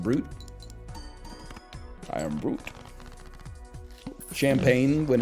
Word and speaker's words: Brut: don't know art Brut Brut is pronounced brute I am brute champagne